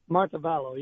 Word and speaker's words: Montevallo: Let's go to Glenn in, how do you pronounce that, Glenn? Is it Montevallo, Alabama? Montevallo, yes.